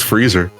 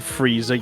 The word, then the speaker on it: Frieza: I as a kid I always thought his name was freezer so your it's pronounced I Am Lord Frieza yes why is there